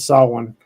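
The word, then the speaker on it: Samhain: the history of it uh the Festival of saw one uh which if you look at the way it's spelled it's spelled Sam Hayne but I know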